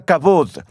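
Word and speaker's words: כבוד: glorioso y terrible es la palabra hebrea cabou a veces se pronuncia cabod ustedes escucharon la historia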